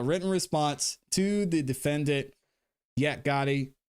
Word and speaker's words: Yak Gotti: response to the defendant Yak Gotti or Yak got it I said it right the first time yet got motion to